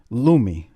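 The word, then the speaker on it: Lumé: there's a product called Lumi l-u-m-e and it's got the little fancy squiggle above the E I believe you know so it's pronounced as a or whatever loomy so the lady says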